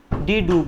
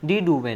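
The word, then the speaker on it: de Duve: डी डूब ने। किसने? डी डूबे ने। अगर इंग्लिश में तो इंग्लिश में इसे प्रोनाउंस करेंगे डी डूबे, और हिंदी में कहेंगे इसे डी डूब।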